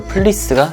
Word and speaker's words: 플리스: 표시하고 나서부터 많은 분들에게 후리스 라고 알려진 건데 사실은 단어만 봐도 누가 봐도 플레이스가 정확한 발음 이거든요 그래서 여러분들도 어디가서 후리스